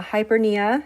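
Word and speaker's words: hyperpnea: good to know uh hypera so the p is silent um is an increase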